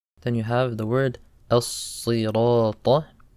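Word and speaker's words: الصراط: Then you have the word as-sirata. Sad is a heavy letter. You pronounce it sa, not sa. As-sirata. And also the word letter ta, don't say as-sirata. Sirata, the letter ta.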